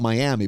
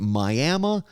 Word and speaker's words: Miami: a professor in Miami, spelt Miami, but they pronounce it Miami, Oklahoma, on the Oklahoma-Missouri border.